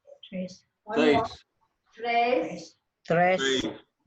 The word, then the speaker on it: tres: Tres. Tres. One more. Tres. Tres. Right, it's not tres. It's Tres.